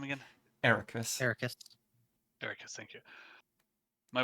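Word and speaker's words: Eraqus: Ericus.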